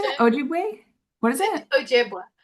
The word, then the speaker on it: Ojibwe: Ojibwa. Ojibwa.